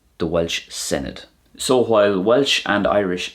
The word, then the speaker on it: Senedd: And the Welsh word for a parliament is Senedd. Senedd.